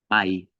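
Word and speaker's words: מאי: Vemos una mem y vemos una rayita. Por lo tanto, mai, mayo.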